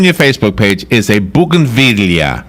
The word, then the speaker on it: bougainvillea: But okay, so the first picture on your Facebook page is a bougainvillea, right? I knew you were going to say something about that. Did you? Now, am I saying it right? Bougainvillea?